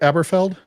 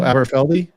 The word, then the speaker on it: Aberfeldy: Aberfeld? Amberfeldy. Oh, Aberfeldy?